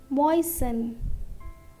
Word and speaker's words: moisten: Moisten, moisten.